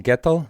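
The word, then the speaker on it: Gietl: Simon Gettel, is that how you pronounce it? Yeah, Gettel is difficult to pronounce.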